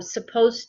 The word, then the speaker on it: supposed: D supposed um but when we say it it sounds like just um supposed to remember we talked about pronunciation we don't hear the D sound but when we spell it we need to put the D there yes um okay guys H